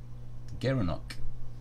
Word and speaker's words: gerenuk: he gara gara nook gerenuk overload he pronounced as a gerenuk the gerenuk yeah you just think